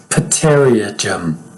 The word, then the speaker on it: pterygium: It looks like pterygium, but it's pterygium.